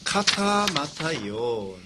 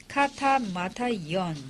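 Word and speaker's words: Κατὰ Ματθαῖον: 마태복음의 이름은 카타마타이온. 这马太的这希腊语发音是卡塔马太伊恩， 카타마타이온. 卡塔马太伊恩， 이렇게 표제어로 되어 있습니다.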